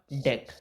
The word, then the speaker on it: dec: Carbon है नाम होगा डेक। DEC, ये डेक आपको पढ़ना है, जैसे डेक ऑफ कार्ड्स वाले DEC के वाले प्रोनाउंसिएशन में आपको पढ़ना है।